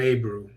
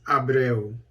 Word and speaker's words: Abreu: ricardo villegas de abreu abreo i think is how it's pronounced i actually went to to base in my basic training many you know decades ago a guy we called him a brew but it's abreo but anyway angola's minister